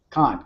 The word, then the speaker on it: Khan: your last name khan khan k.a like uh khan like the wrath of khan like the wrath of khan correct got it so we're